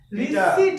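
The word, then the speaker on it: receipt: রিসিভ প হবে না, রিসিট হবে, seat, the পি is hidden here, উচ্চারণ হবে রিসিভড, রি,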